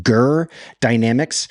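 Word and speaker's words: Goer Dynamics: It's spelled Goer. So you want to say goer, but it's actually pronounced Gerdynamics.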